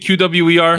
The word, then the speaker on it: QWER: I don't know how to pronounce this group. QWER. Is it QWER?